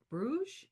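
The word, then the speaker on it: Bruges: Um because I thought it was interesting that Baldwin and Judith end up in in um Bruge. Is that how you pronounce it?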